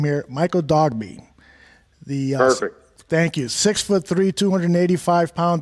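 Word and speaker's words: Michael Dogbe: I want to move now to Michael, and correct me if I'm mispronouncing the last name here, Michael Dogby.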